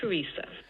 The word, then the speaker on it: Teresa: Mother Teresa. Yeah, so the H plus downstepped H star here is on Teresa, that part of Mother Teresa, and the second syllable is what's being stressed here in Teresa, and that's